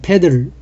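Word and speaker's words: petal: 같은 함수고 함수 계속됩니다 페틀 영어로 읽을 때는 패들 이렇게 있는데 t 발음을 한 패턴이죠 여기에 꽃잎입니다 꽃잎을 그리는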